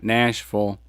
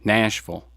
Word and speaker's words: Nashville: So we're getting out of Louisiana now, going up to Nashville, which is how you say it when you live there, Nashville. You don't say Nashville, they'll look at you funny.